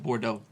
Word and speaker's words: Bordeaux: But that's where that came from because the EAUX that's very common in French language for the O sound, like Bordeaux.